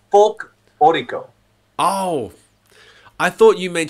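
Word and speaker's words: folklórico: Yeah, I think you've got me saying it wrong now. It's like folklorico.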